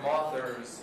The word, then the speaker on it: mothers: And as my friend Marie Wynn likes to say, mothers rhymes with authors.